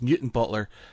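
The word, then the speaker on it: Newtownbutler: new time Butler and I was like what Newton Butler and she's like no its new time Butler I said yeah it's Newton Butler and she's like no it's spelt new time Butler and I said yeah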